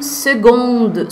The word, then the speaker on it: seconde: Seconde, Cécilia, você tá pronunciando com a letra G, com som de G, mas se escreve com C. É, c'est la vie. Esse daí realmente é uma das palavras que mais causam, perturbam os franceses também, tá, gente? Os nativos também, eles ficam meio injuriados com esse C aí, que se pronuncia G.